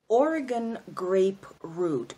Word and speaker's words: Oregon grape root: didn't tell you guys Jerry's an herb called Oregon grape root Oh are a GaN GRA PE r OT